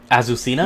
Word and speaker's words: Azucena: character for the game azucena yeah yes yeah that's I believe that's how it's pronounced like if you watch the Tekken trailer that's how the announcer pronounces it but it's not just azusina it's azusina from Peru